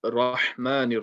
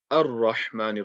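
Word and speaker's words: الرحمن: So we're not going to read Rahmanir Rahim, we're going to read Ar-Rahmanir Rahim. Don't ask me why the alif does not have a fatha on it. To be honest, I'm not sure myself why it's not there. But it's not there, so make sure you are reading it as Ar-Rahman and not Rahman.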